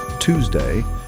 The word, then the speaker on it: Tuesday: are in the world in American English the U is pronounced as a ooh sound almost like the word to this gives the word